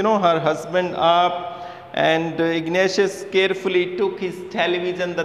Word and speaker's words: Ignatius: so ignatius is the name of a person ignatius ignatius see ignatius you can learn to pronounce ignatius was a manager of a cooperative